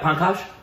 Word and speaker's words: Pankaj: Yeah, Pankaj.